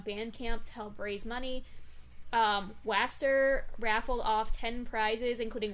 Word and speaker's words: WSTR: would have called it Worcester. I looked it up, apparently it's Waster.